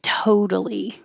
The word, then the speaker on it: totally: And I put OU here to remind you to use the American O, which begins more with an a schwa, than an O. So your lips begin unrounded, O, and then round. Totally.